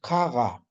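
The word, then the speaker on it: qaqa: Peña es caga, caga, ¿ya? Entonces, cuando Q está dentro de la palabra, eso se convierte en G de gato más claro, ¿no?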